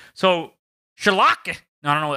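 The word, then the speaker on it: Schalke: be forced to sell lec spot chalk okay shulker my bad choco four could be forced to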